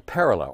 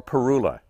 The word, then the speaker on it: parula: Here's another really common one, the northern parula, or parula. It's pronounced both ways, and it sounds like a zipper.